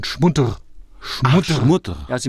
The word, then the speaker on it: Schmutter: Das heißt nicht Schmutter, sondern Schmutter.